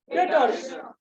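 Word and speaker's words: debtors: Repeat again, डेटर्स। B silent होता है, डेप्टर मत बोल देना, डेटर्स।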